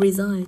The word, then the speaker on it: resign: Như vậy thì với từ resign trọng âm sẽ rơi vào âm tiết thứ hai.